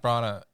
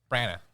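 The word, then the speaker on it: Branagh: Kenneth Bronna, is that how you say his name? Bronna. Brana.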